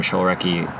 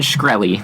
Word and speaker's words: Shkreli: That's Martin Shkreli. That's how you say it.